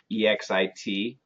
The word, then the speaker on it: exit: So for example, EXIT, for example, EXPORT. And the rule says when we say EX vowel, the pronunciation is EGZ vowel.